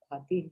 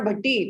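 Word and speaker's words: Bhati: भाती भाती अच्छा भाती अच्छा ओ फक, मेरा चेयर लग गया। ओ अच्छा, नॉट भट्टी, भाती।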